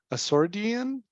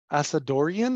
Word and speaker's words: Asadorian: like to introduce asordian asadorian I should say I'm sorry I butchered